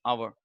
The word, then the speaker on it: hour: Still, many people pronounce it as hover or honest. It's our honest.